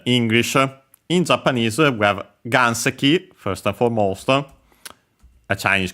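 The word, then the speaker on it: 岩石: in Japanese we have ganseki first and foremost a Chinese compound which means a rock and actually uses well okay the accent is on the first mora which is the second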